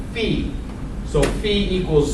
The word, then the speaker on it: phi: All right, phi, that's pronounced phi, pronounced like that, F-E-E, signifies the parameters and equals the relationship of the strength of those two variables.